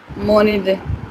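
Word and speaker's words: mon idée: Don't forget to transfer the sound, please. What will it become? Haji? Monide. Yes, that's right. So that's Moni day. Sahajpreet, please repeat. Monide.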